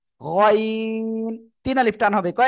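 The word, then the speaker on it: غين: ওকে, যাই হোক, আমরা গইন রে গাইন বলবো না, গইন, গইন আমরা এভাবে উচ্চারণটা করব।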